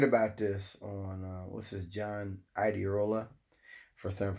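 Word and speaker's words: John Iadarola: And I learned about this on what's this, John Iderola, first time I pronounced his name right, on the Damage Report.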